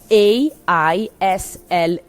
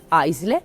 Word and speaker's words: aisle: The word in this case is the word written, and I tell you the spelling, A-I-S-L-E. Aisle. It is written this way, aisle, but you have to pay attention with the correct pronunciation of this word that is in English aisle seat.